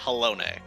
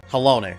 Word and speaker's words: Halone: Pronounced Halone. Halone, thank you.